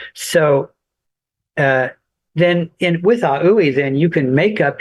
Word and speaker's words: AUI: And so then he invented a language called aoui and a means space. U means mind e means sound. So aui means space mind sound. And it's spelled A, lowercase A, capital U, capital I.